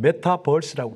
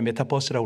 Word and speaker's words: 메타버스: 이 모습을 뭐라고 그러냐면 메타버스라고 합니다. 일부 때 메타버스라고 그랬다 혼났어요. R 발음 넣으라고.